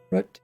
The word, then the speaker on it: route: Root and route. Root and root. Route is pronounced root.